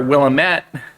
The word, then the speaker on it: Willamette: In fact, here in the Willamette Valley, or Willamette, is how it used to be pronounced before we got here.